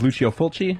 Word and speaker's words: Lucio Fulci: You did mention the Italian release of Dawn of the Dead, and I do know that I believe the pronunciation of his name is Lucio Fulci, if I'm not mistaken.